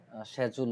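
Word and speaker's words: schedule: যেই প্রনান্সিয়েশনটা ফলো করতেছেন যদি ইউএস এর স্ট্যান্ডার্ড ফলো করেন তাহলে এভাবে উচ্চারণ করার আর যদি আপনারা ব্রিটিশের মত করে কথা বলতে চান ইউকে এবং ব্রিটিশ সেমই সো তখন আপনারা সেজুল বলবেন ওরা যেভাবে বলে আমি যেটা বুঝি না আমি স্কেজুল বলি এছাড়াও এখান থেকে আপনি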